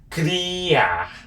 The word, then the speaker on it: criar: Criar. Criar. C-R-I-A-R. Criar. Criar. That means to create something. And this letter C here, it does start with the regular C, which is the hard C, which is k.